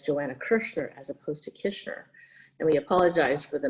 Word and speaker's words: Kishner: wrong but it's joanna kishner so no worries people do it all the time it's i always say wish dish fish kish makes it easy oh there you go